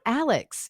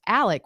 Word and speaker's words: Alex: thing uh it's not Alex it's pronounced Alec which is the southern way to pronounce Alex I'm not sure why